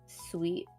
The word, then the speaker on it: Suite: I've been watching Sweet Pretty Cure. Sweet spelled like SUITE, not sweet like candy.